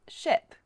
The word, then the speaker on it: ship: Listen to the difference with ship. Ship. Sheep. Okay.